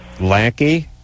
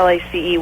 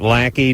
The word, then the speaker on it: Lacy: Lacey. Lacey. You still would have said Lacey. I still would have said Lacey. Here's the deal, Lauren. If she pronounces it lackey, just spell it lackey.